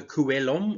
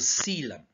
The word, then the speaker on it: coelom: development of a coelom no it's not the column or column or I've heard some amazing like pronunciations it's called the Ceylon all right now the